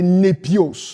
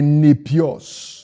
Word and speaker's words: népios: Non, autant pour moi, excusez-moi, les népios.